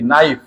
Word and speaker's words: knife: একটু দেখো, WIFE, KNIFE, নাইফ। নাইফ মানে কি? ছুরি। এটা নাইফ না কে নাইফ? এটা উচ্চারণটা কি? নাইফ। তোমরা জানো যে এনের আগে যদি কে থাকে, সেই কে এর উচ্চারণটা হয় না।